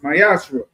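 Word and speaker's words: מעשר: Means t in Hebrew is pronounced myashra.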